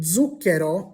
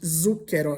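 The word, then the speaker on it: zucchero: So, the word zuko, which means sugar in Italian, starts with a zed, but it's not pronounced zuko. It's pronounced with a dzed sound.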